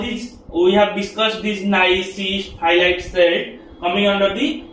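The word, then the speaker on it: gneiss: You can see the spelling is little bit uh different from the pronunciation. We we we have to pronounce it as nice.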